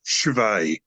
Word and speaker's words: Cwej: last name um Chris's last name should be pronounced chave because I used to know a girl I